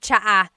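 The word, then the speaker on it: tsaa: There's the ts sound and then the double vowel uh pronunciation.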